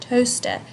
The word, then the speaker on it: toaster: kind of silent so they've taken out the a from the pronunciation annotation and they've also put the T ough in bold now the reason they've done is because the emphasis or stress of the word toaster is on toe so it's toaster right